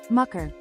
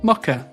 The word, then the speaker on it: mucker: Mucker. There you go. Mucker. Nailed it. Well, from now on, I will pronounce mucker correctly.